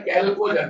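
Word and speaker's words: chalcogen: तो group number 16 का जो नाम है वो होता है कैल्कोजन। चाल्को नहीं बोलते हैं, कैल्को बोलते हैं, साइलेंट है ना, कैल्कोजन।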